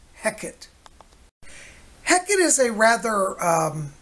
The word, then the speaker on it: Heket: of spelled h eq et either way it's pronounced Hecate heck it is a rather different sort of